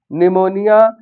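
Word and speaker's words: pneumonia: किसी भी वर्ड में पी के तुरंत बाद एस या एन आ जाता है तो वहां पर पी साइलेंट हो जाता है। जैसे साइकोलॉजी सो निमोनिया इस तरह के वर्ड हैं।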